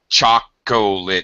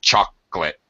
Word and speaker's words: chocolate: something okay uh so that is a word that has a drop syllable like chocolit nobody says chocolit in English we all say chocolate we pronounce it with two syllables okay uh let's see